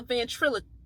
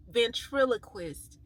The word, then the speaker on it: ventriloquist: how ventrus what's it it's a ventril ventriloquist yeah that's how you pronounce it y'all know how they